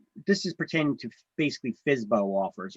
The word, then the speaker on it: FSBO: sale by owner or fsbo okay FSB stands for for sale by owner we pronounce it fsbo well you can pronounce it however you want you know but fsbo